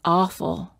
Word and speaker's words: awful: stressed words with awe don't say ah say oh that's awful it's too long that